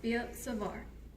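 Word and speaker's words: Biot–Savart: right it's b-i-o-t hyphen r s-a-v-a-r-t and it's pronounced b savar so typically students get very intimidated by the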